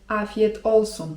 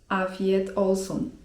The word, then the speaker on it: afiyet olsun: I nie zdziwcie się jeżeli w odpowiedzi na ten zwrot usłyszycie: afiyet olsun (czyt. afjet olsun) To oznacza 'smacznego'.